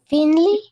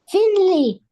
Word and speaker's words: Finley: Finley or Willy? It is starting from V or F. F I N L E Y. Fly. Right. So Augusta told me that ma'am I have a friend named Finley.